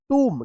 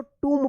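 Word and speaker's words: tomb: बम टी ओ एम बी टूम क्या पढ़ेंगे इसको टूम पढ़ेंगे टूम ठीक है ना टूम चलिए यहां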